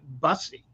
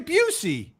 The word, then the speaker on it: Busey: the uh you know, the stars were all pronouncing it, you know, the busy, which I'm like, what are they calling Booy? They're calling Booy. No, Booy, which is what is that? It's Gary Buucy.